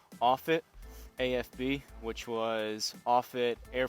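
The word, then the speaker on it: Offutt: I had to look this up for the pronunciation offit AFB which was offit Air Force Base um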